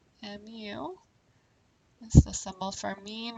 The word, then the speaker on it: mu: our mean and the way that's pronounced is as me mu is the symbol for